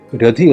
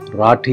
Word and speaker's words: റാഠി: മറ്റൊരു പത്രത്തിൽ കാണുന്നത് അഞ്ജു രധി റാണ എന്നാണ് ഒരു പത്രത്തിൽ രഥിയും മറ്റൊന്നിൽ രതിയുമായത് എങ്ങനെ എന്ന് സംശയം തോന്നി അതുകൊണ്ടുതന്നെ ഈ പേരിന്റെ ശരിയായ ഉച്ചാരണം എന്തായിരിക്കുമെന്ന് ദേവനാഗിരി ലിപിയിൽ അടിക്കുന്ന ഹിന്ദി പത്രങ്ങളിൽ നോക്കി അവിടെ കണ്ടത് റാഠി എന്നാണ് ഗുജറാത്തിലും രാജസ്ഥാനിലും ഒക്കെള്ള ഒരു